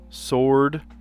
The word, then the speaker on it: sword: There's a silent W in a couple of these. Playright, sword, rap, and wreath. Those are silent W's.